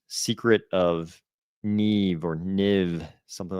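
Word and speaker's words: NIMH: for me that should be pronounced Secret of Neve or Niv, something like that. But it's in the I had to check because I was pretty sure I remembered them pronouncing it Secret of Nim.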